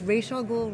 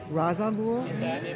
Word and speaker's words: Ra's al Ghul: So this was Ra's al Ghul, Ra's al Ghul, Ra's al Ghul, and we just made a decision.